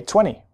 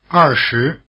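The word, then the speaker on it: 二十: Try repeating after the speaker, say 20. 20, 20, 20. The stress is on the first syllable in this system.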